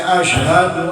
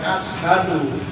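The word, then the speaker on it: أشهد: tahiyatnya ya sampai mana sampai Ashadu alla ilaha illallah bukan ashabu bukan ashabu yang beda syahadat dengan syahadat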